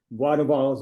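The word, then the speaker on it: Boisduval: And one of the reasons you're going there is to see, I'm going to pronounce it in French, Bois de Vals yellow.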